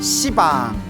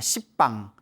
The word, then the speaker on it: 시방: 시방, 모든 공간을 가리켜 시방이라고 하는데요. 원래 한문으로 쓰면 열십자의 방위방자, 그래서 원래는 십방입니다. 십방. 근데 십방 하면 좀 너무 욕 같지 않습니까? 발음이 너무 억세가지고 이제 시방이라고 표현을 합니다.